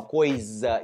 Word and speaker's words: coisa: quando as pessoas falam coisa e é com s se escreve com s porque a letra s entre vogais ela vai soar como Z Ok então você tem